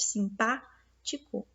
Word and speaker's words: simpático: Então, se ela tá o pá, né, que é onde a gente pronuncia mais forte, simpático.